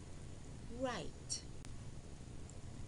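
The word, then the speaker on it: write: When W is paired with consonant R, the W is silent in words such as rack, R, A, K, rack. Right, R, I, T, right.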